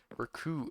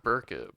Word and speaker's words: Berkut: It's Berkut and not Burkett, but like It doesn't look like it'd be Berkut.